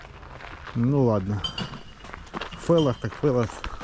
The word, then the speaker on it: Фелос: Когда P и H - это читается как F. Ну ладно. Фелос.